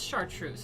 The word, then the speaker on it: Chartreuse: that last word chartreuse i can do that's chartreuse i do believe rainbow says what did tyson